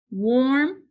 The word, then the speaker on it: warm: in the medial position warm swarm warp you hear the or sound what is making the